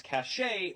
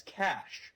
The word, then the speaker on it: cache: Or this word, which some people mispronounce as cachet when it should be pronounced as cash, like the money.